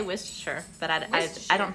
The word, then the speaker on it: Worcestershire: I said we say Worcestershire that I decided I don't think I remember some of one of our salesmen it's work Chester Shire that's like really wasted